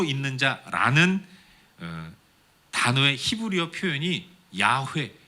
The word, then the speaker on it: 야훼: 스스로 있는 자라는 단어의 히브리어 표현이 야훼, 여호와라는 거예요. 스스로 있는 자라는 문구에 히브리어 자음만 따서 발음할 때 야훼라고 얘기하는 거고, 거기에 모음을 붙여서 부르는 것이 여호와라고 부르는 겁니다.